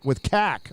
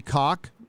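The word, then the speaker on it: caulk: It's actually spelled cack. It's spelled cack, but it's supposed to be cock. Like cock, yeah.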